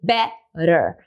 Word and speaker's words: better: A mesma coisa em better. Tenho duas vogais ali, é, e a, e o tá no meio. E a sílaba forte não é a sílaba do T, é a sílaba anterior, é o b. Então, por isso eu posso fazer better.